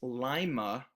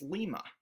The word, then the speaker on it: Lima: So when we're talking about this community in Ohio, which actually isn't too far from Muncie, I found out, it's Lima, Ohio. But if you're talking about the community in Peru, it's Lima.